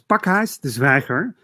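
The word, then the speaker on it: Pakhuis de Zwijger: Please follow Servaz and follow their work at Parkhuis de Zwijger. Did I say it right this time? Yeah, you said so it's Parkhuis de Zwijger.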